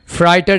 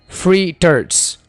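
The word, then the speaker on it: fritters: पास है दोस्तों पकौड़े पकौड़े को इंग्लिश में फ्रूटर्स कहते हैं फाइटर नहीं कहना फ्री टर्ड्स फ्री टर्ड्स फ्री टर्ड्स इन वर्ड्स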